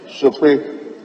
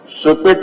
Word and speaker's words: Sokpoe: Speaker, before I read the question, may I use the opportunity to correct the spelling of one of the towns, Sope. It is spelled S-O-K-P-O-E.